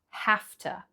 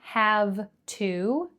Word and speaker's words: have to: So, for this sentence, notice the pronunciation of have to. Okay, not have to. I have to finish, but I have to finish.